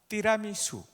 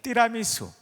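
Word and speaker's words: tiramisù: 아세요 아 잘 아시네이 티라미수 발음이 약간 다르죠 여러분들이 하신 영어식 발음이 아니고 이거는 이태리 말이에요 띠라 이수 한번 따라서 해 보실까요 띠라 이수 아주 원색적으로 발음 하셔야 돼요 띠라 me 수라고 하셔야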